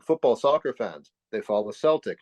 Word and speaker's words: Celtic: soccer fans they follow Celtic not Celtic you pronounce the soft sea the team is in